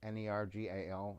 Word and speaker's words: Nergal: inauguration of Barack Obama a demon named we pronounce it in Urkel narG al he probably has a Hebrew word and he